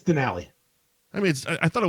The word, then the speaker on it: Denali: Is that how you pronounce it? Denali. Denali? What'd you say? I said Donnelly. Oh, it's Denali.